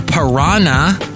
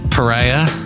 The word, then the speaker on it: pariah: a social par P don't be a social piran and people are going wait what isn't that how you say it it's Pariah like Pariah Carey and then what's the